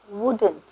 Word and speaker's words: wouldn't: Notice the way I pronounced were and wouldn't. W words you have to round your lips and say were, wouldn't.